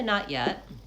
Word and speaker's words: not yet: So when I say not yet, I typically don't use an aspirated T. I don't say not yet. I tend to use a stopped T for both of those T sounds. So I say not, I go up to that T, I stop, hold there, I mark it, but I don't release the T. Not, and then yet has the ya glide.